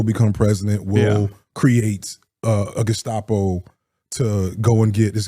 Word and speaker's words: Gestapo: No, Gestapo is correct, or Gestapo is correct.